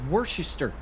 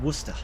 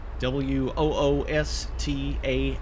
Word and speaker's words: Worcester: No, yeah, it does look like it says Worchester. But uh Bostonians and Massachusettanians uh pronounce it Wooster. w o o s t a h Woos-ta.